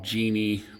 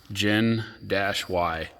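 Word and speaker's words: Gen-Y: called Gen Y it's some people call him Genie but it's actually pronounced gin Dash y this is their boss hitch it's the 10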